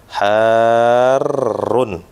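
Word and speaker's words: حارٌّ: itu Harun panas ya Perhatikan ya perhatikan harrun nah seperti itu cara bacanya Harun un nah panas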